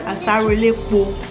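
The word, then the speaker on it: Asaro elepo: It is called asarelepo. You know, that's the way we pronounce it, the Yoruba people in Nigeria.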